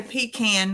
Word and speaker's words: pecan: egg rolls daf says they say pecan not if I can pick on I have times where